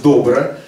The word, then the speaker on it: Добро: простой американский инструмент который называется добро ударение на Первом слоге Потому что когда Андрей